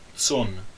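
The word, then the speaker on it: צֹאן: Então, tson, na verdade, é uma palavra monossilábica. Mesmo que a palavra tson tenha 3 consoantes, ela continua sendo uma palavra monossilábica porque o aleph é um aleph mudo.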